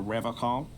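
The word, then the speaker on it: Revachol: But someone has to stay strong for Revocol. He pronounces Revocol with a hard K, unlike other people.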